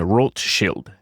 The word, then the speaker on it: Rothschild: Rothschild or I I I prefer to to use the the pronunciation rot shield the the German because it actually gets